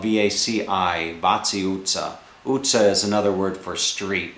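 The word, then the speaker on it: utca: shopping streets, which is called Vaci Itza, and it's spelled V-A-C-I, Vaci Itza. Utza is another word for street, and they spell that U-T-C-A.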